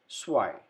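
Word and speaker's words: zwei: i at the end so whenever we use e i in a given word i sound is produced so we say like this swai number two number three try again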